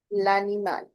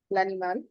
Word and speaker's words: l'animal: Further, L'animal, because liaison will take place. The sound will connect. L'animal. Here also, we'll speak L at the end. L'animal.